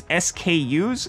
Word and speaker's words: SKU: To which mine corrected, it's SKUs. It's actually an acronym that stands for stock keeping units. So when people say SKUs, they're not, it's an acronym that they're pronouncing as a word, just as information for you.